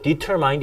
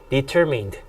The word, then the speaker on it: determined: 뭐 이거 뭐 determined 이래버리면 틀리는 거예요. 그래서 제가 발음을 지금 해드리고 있는 겁니다. 발음 2번씩 해드릴 거니까는 꼭 들으시고 발음 체크하세요. determined.